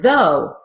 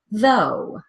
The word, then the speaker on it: though: rough next word is though looks like it should rhyme with rough but it does not it's pronounced with an O though with an O sound so let's try the word by itself though though though now let's